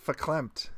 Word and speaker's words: verklempt: It says that the V is an F. I looked it up. Verklempt. It's like Yiddish.